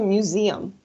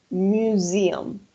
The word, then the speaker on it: museum: The pronunciation is museum. I'm gonna write here the pronunciation. Museum. Yes, that's the pronunciation. Museum. Sí, acuérdense que la S entre dos vocales va a sonar como una Z.